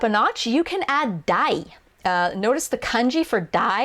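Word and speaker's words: 大: It's the same kanji in oki, but in this case it's pronounced dai.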